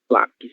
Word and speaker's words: lápis: Lápis possui apenas 2 sílabas, mas ainda assim nós conseguimos fazer essa identificação como paroxítona, certo? Já que é a penúltima sílaba, ok? Que nesse caso será lá, certo?